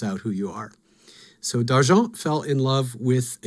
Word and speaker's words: D'Argent: Another famous dragon, this one is sort of interesting, Dargent of Kryn. And this is D''Argent. So this actually is a French-inflected word. So if you're going to pronounce it like they would, it'd be d'argent.